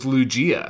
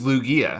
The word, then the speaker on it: Lugia: name in that video what i said was lugia but the actual pronunciation is lugia as heard here in the greek version of